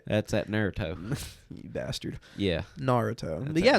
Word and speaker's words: Naruto: Naruto Naruto Naruto say it right that's at Naruto you bastard yeah Naruto yeah Naruto it's like